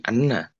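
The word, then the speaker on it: أنّ: kedua nah ini apa kalau Inna itu dengan membaca kasrh ya hamzahnya Kalau Anna itu membaca fathah hamzahnya dibacanya Anna Anna nah ini perbedaan Inna dan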